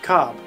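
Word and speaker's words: Cobb: probably gonna go with cob rhymes with knob should be easy enough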